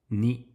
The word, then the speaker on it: に: If we were to remove the first stroke from the character ni then it would be written and pronounced as co. Once again 1 2 3 knee.